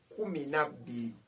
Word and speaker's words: kumi ne biri: Kumi ne biri. Kumi ne biri. That is 12. But when you are pronouncing it, you say kumi na biri.